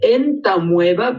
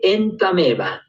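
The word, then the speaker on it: Entamoeba: Se escribe entameva, pero se lee entameva.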